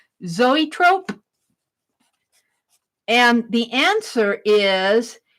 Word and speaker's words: zoetrope: ope I have no no idea how to pronounce that I say zoetrope zoetrope and the answer is it's a pre cinematic